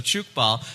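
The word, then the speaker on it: tchoukball: Yeah, so chook ball, and I want to talk I'm sorry, about wait, it what's that now?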